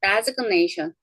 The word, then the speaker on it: designation: 그런데 얘는 발음합니다. designation.